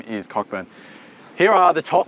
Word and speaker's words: Cockburn: The name is Cockburn.